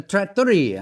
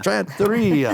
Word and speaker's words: Trattoria: John and Sherri Buchanan, Tavern at Trails End, Tavern Smokehouse, and the new Tavern Italian restaurant, which is pronounced? The Trattoria. Trattoria, there you go.